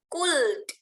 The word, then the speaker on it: could: Jadi kalian tidak boleh bilang could. Ada L-nya. No, langsung saja ke D. Listen ya, coba dengarkan. Could. Good. Could. L-nya nggak usah dibaca.